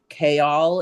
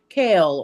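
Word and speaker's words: Chaol: But it's because he listens to it so fast and he's like, so how does it pronounce? And I was like, K-all is like K-all.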